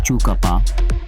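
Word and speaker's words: Tjukurpa: You're stepping into Chukurpa, pronounced Chukapa, a word in Pidjanjachara language meaning dreaming or creation law.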